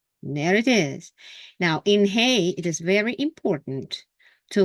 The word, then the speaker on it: He: different sound okay but this one is hay the air goes freely out of this window if you put your uh uh fingers on on your uh above the chest between the uh neck and the chest and say Ah that's the sound ah okay that's the sound